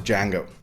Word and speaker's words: Django: Tarantino paid tribute to this tradition when he named his own lovesick spaghetti western hero after Django. The D is silent.